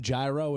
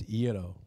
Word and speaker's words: gyro: Gyro. Gyro. It's not gyro. It's gyro. Yeah. Yeah, it looks like spelled like gyro. It's spelled like gyro, but it's Greek, right?